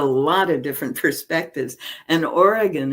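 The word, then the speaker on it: Origen: of different perspectives and Oregon is one of them origin if you want to pronounce it that way was one of those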